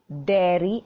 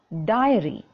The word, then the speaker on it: dairy: little clarification to make usually in the classes i hear you children pronouncing the word dairy as diary it is different let me make it clear to you all dairy means the milk products okay dairy and diary is a notebook on which you can write all right so these two words they are different they have different meanings and different pronunciations all right please don't get